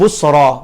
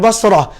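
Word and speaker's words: Busra: membawa surat Baginda kepada pemimpin busroh bukan basroh Basrah ejaannya bahasa roh dengan timer buta ini adalah Busyro Basrah berada di Irak Busyro berhampiran dengan Shark lalu ketika menyusuri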